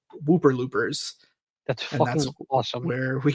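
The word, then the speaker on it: ウーパールーパー: it the name comes from something in Japanese pronounced Whooper Looper which was a marketing term they created in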